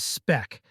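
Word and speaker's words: Spck: is Android or ios's spec spcc pronounced as spec editor enables you to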